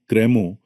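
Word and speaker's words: crémeux: Cremo, pronounced approximately cremo, is a rich, smooth, silky, and creamy preparation commonly used in modern pastry and plated desserts.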